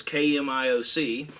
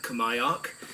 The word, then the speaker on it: KMIOC: to pronounce their name it's in all caps so maybe you're just supposed to say out the letters the company is kmioc uh I heard another fella say kamayock I guess intuitively want to say